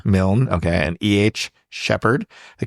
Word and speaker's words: Milne: I think it's Milne. Milne.